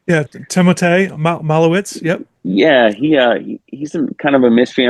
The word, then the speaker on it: Malovec: One guy that's interesting is the Slovakian that they signed, Malovec, if I'm pronouncing that right. Yeah, Timotej, Malowitz.